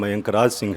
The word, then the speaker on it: मयंक राज सिंह: से मयंक राज सिंह, मेरा नाम गलत प्रोनाउंस किया गया था, मेरा नाम मयंक राज सिंह है।